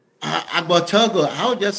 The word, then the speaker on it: Agbortogo: Agbortogo. So the first G is silent. So it's like Agbortogo. about to go. Think about to go food. Take out to go.